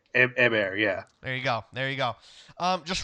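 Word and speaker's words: Héber: I'm gonna the accent is on the E, so and I don't think they pronounce the H, so I'm gonna go out and say Hèber.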